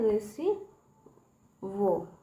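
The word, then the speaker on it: receive: की मात्रा, ठीक है, रेसी वो, ठीक है, रेसी वो, वी से व होता है, ठीक है, यहाँ पे ई साइलेंट है, ठीक है, रेसिवो, रेसिवो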